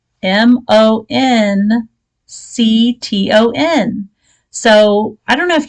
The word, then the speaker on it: Moncton: trying to pronounce this i'm like monk ton it's like trying to say worcester worcestershire worcester sauce worcestershire sauce it just doesn't work that way so there you go